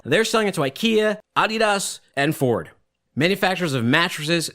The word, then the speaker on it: Adidas: And I'm calling it Adidas because that is the proper way to say it. And if you say Adidas to one of the Reebok executives, they will correct you. It is Adidas.